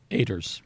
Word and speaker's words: Oeters: And so it's Oeters, and we pronounce it Oeters.